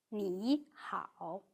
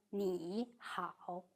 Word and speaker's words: 你好: When two third tones are read in sequence, the first syllable turns into the second tone. So 你好 is read 你好 rather than 你好, although you need to mark it as third tone in writing.